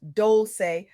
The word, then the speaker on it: Dolce: I'm your host, pronounced doulce like sweet softness whispered in French.